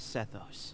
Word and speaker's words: Sethos: My name is Sethos. Sethos.